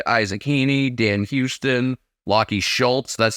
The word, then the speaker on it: Schultz: chera Josh dunkley Isaac Heeney Dan Houston locky Schultz that's how you pronounce it people Schultz people will learn just